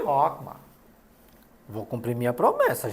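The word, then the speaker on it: Chokmah: Rockmar. Atenção. CH, pronúncia de como no alemão. E Rockmar.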